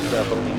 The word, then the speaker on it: Bellin: I believe I said Bellin earlier, but Bellin, I believe, is the correct pronunciation.